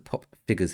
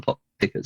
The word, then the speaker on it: Pop Pickers: Pop Figures himself. Oh, you got my name wrong. It's Mr. Pop Pickers.